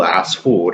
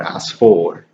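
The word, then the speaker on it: عصفور: Similarly with wow, you can have a word like asfur, and in Ammiya it's still asfur, it's not asfor, Those E's and O sounds are adaptations of the original Fusha sound, so they occur when that happens.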